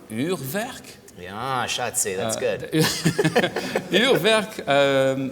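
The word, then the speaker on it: Urwerk: This is, now let me see if I can pronounce this correctly. Uhrwerk?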